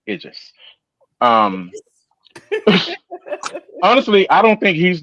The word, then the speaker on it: Idris: I know how to say his name correctly. Idris.